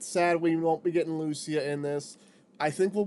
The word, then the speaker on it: Lucia: Tempest was essentially going to be playing the role of Lucina. Lucia. I was saying it wrong.